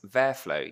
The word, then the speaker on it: VertFlow: in London and I'm going to talk about verf flow yes that is how you pronounce it which is an operator a task